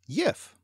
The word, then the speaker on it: gif: So the important question is, gif or jif, Norse or French? Well, as far as I'm concerned, it's an English word, so it should be pronounced yif.